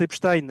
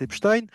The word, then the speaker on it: Epstein: fais un petit aparté, moi je prononce Epstein, et il y a beaucoup de gens qui prononcent Epstein, j'ai jamais prononcé Albert Einstein, si vous voulez, hein, on prononce Albert Einstein, et le fait de prononcer non pas Jeffrey Epstein, mais Jeffrey Epstein, c'est déjà un biais